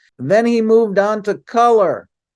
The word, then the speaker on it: Kulur: he moved on to color color is spelled KL you are and has a very